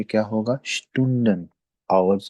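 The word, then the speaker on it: Student: देते हैं अ, ये, अब देखें एस के बाद आ गया टी, तो अब फिर एस जेड की साउंड बल्कि शीन की साउंड देगा। क्या हम प्रोनाउंस करेंगे तो ये क्या होगा, स्टूडेंट, आवर्स को कहते हैं, ठीक है।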